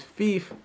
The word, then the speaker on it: Fif: Fief is spelled F-I-F. So if you read it without me first introducing myself, I'd have no problem with you thinking that it was pronounced Fiff.